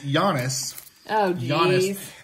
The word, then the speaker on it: Giannis: talk goon bow okay first of all it's Jonas Jonas and his last name is pronounced honour to compass because I already have